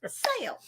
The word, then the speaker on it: sail: You still had two syllables on there. Sail. It's like sail.